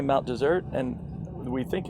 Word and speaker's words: Mount Desert: there's only one s some people say Mount desert but locals say Mount dessert and we think it's